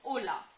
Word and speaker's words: hola: H is silent, A sound is A, so this is hola.